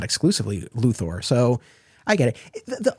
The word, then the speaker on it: Luthor: the next one is I have seen it said it's spelled with an o r not an e but there are so many words that end with o r that are not pronounced that way plus it's a